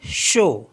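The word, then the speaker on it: chaud: ए यू टी तो इसको पढ़ते हैं हम शो शो मीस होता है हॉट नेक्स्ट वर्ड है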